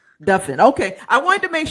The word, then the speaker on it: Duffin: It's pronounced like muffin.